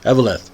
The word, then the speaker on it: Eveleth: I always have trouble with that pronunciation. Eveleth.